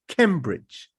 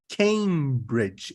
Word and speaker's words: Cambridge: I used to pronounce it just like the object that you use to take pictures, camera, Yes. and it was camera and Cambridge, right? Yes. Camera, Cambridge.